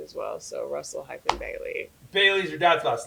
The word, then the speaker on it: Russell Bailey: and Isaiah Bailey-Russell. Did I say it right? Russell Bailey.